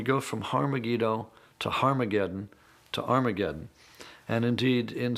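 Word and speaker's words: Ἁρμαγεδών: And indeed, in some of the earliest versions of the New Testament, written in Greek, Armageddon has an aspirant at the beginning, meaning it's pronounced with an H.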